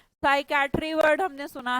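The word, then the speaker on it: psychiatry: Spelling जरूर देख लीजिएगा। सोचते हैं हम एस से बनेगी पर पी से बनती है। पी के बाद जब भी एस लिखा जाता है स्पेलिंग में साइलेंट हो जाता है।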